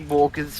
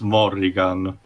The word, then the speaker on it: Morrigan: again there are so many remixes at this point i thought you're going gonna say morgan's theme from asa 32. that's because he technically pronounced it wrong he's morrigan yeah whatever yeah i'm